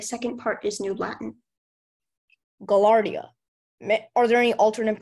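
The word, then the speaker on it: gaillardia: name and the second part is new Latin gallardia are there any alternate pronunciation for the word gallardia or gallarda gallardia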